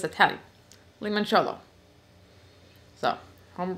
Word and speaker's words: limoncello: chip and lemon lemon cello okay it's Italian limoncello so I'm pronounced it right anyway let's go get started